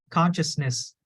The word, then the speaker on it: consciousness: but you know so just break it down forget about the nest at the end just say conscious conscious Consciousness good Consciousness yes you